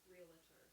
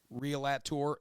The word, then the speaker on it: realtor: It would be real A-T-O-R, realtor. Real at tour, and that's how they say it, but that's not how you spell it.